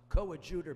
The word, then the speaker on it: coadjutor: By the way, she pronounced it well, coadjutor bishop.